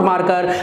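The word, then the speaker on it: marker: This is नॉट मार्कर, this is नॉट मार्कर। आज के बाद अ पे साउंड करनी है, ये आई और आर तो बोलना ही नहीं है, मार्क, है ना, MAR, मार्कर, मार्कर, ठीक है।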